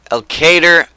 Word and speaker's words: Elkader: guys craft Farms here and welcome back to al cater Iowa finally set it right thank you I